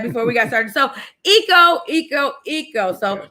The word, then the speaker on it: Ico: uh by the way my name is pronounced eco eco okay well i was